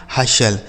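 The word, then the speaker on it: hustle: हशल।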